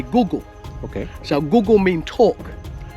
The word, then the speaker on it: Kuku Yalanji: Yeah, this is our tribal name, the Gugu Yalanji. Pronounced Kuku Yalanji. Okay. But we keep the K a silent letter. So we say Gugu.